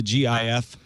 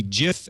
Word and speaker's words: GIF: the specs of the GIF specification the pronunciation of GIF is in the spec to be gif as in Jiffy rather than GIF which